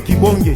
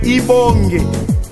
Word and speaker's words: Kibonge: C'est comme qui dirait, moi je m'appelle Kibonge. Je ne peux pas dire, on ne peut pas m'appeler Kibonge. Chez nous les Emba, on appelle Ibonge.